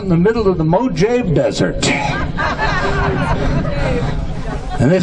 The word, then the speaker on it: Mojave: how's the volge a desert that's it it's pronounced to mojave I learned this is what are you gonna